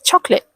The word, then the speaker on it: chocolate: And the last word is chocolate. Even though the spelling looks long, most people say it with just two syllables, chocolate, instead of chocolate.